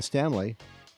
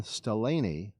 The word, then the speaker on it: Staleny: Followed by Ethan Stanley. Might actually be Nathan Staleny.